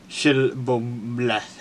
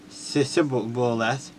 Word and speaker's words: Shibboleth: If he said no, then they would say to him, "Then say Shibboleth," and he say Sisboleth, then he could not pronounce it right.